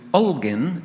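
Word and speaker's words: Holguín: It's actually, you've got the name Holguin, it's with a H, but they don't pronounce the H.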